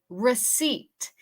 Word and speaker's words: receipt: Receipt. En esta palabra, la P es muda.